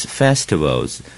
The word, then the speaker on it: festival: 下面请各位翻到第二页，我们就看第一课 Lesson 1 Chinese Festivals 中国的节庆。首先我们看这一课的生字，第二页上面第一个字就是 Festival，重音在最前面 FFI Festival 就是节日节庆 Festival。